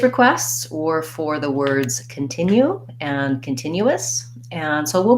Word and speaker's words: continue: let's look at continue continue has three syllables and it has second syllable stress we can see that